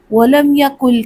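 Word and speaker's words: وَلَمْ يَكُن لَّهُ: पर इदम होगा तो नून साइलेंट है नून को नहीं पढ़ेंगे काफ को लाम से मिलाएंगे कैसे पढ़ेंगे वलम यकल काफ पेश लाम कुल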